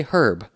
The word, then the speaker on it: herb: to Adam Ria's video the British didn't start pronouncing the H in herb until the 19th century so it's a little